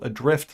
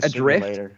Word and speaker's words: ADR1FT: In 2016, a game called Adrift launched. That's spelled ADR1FT.